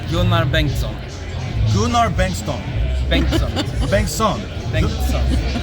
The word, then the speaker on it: Gunnar Bengtsson: Let me say it the Swedish way. Gunnar Bengtsson.